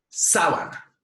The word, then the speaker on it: sábana: la antepenúltima si la perdón si ante penúltima sílaba sábana punto es decir una palabra esdrújula si sábana